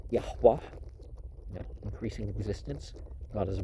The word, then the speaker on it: Yahweh: in the one God of heaven and earth, pronounced Yahweh, increasing existence, God as a verb and noun, establishing established, and the Persians, who had a monotheistic sun worship.